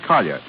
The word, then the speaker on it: Collier: Collier's the name, James Collier. The French pronounce it Collier. Collier?